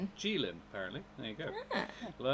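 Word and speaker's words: Qilin: Jaylen, I didn't know that's how it's pronounced. Um, I thought it I had always thought it was Kylin. Um, it's the the the Chinese unicorn. Um, oh, it's pronounced Jin. Gilin, apparently.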